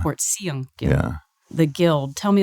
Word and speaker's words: Portiuncula: Tell me a little bit about, and I looked at this last night because I'm gonna mispronounce it. Everybody does. Okay, is it Portiuncula? Portiuncula. Portiuncula.